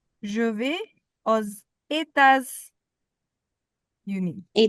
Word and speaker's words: aux: AU and AUX both of them are pronounced as au.